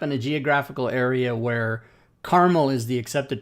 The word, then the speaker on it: Carmel: actually the geographic place is pronounced Carmel. It is It's pronounced Mount- Carmel. It's Carmel, California.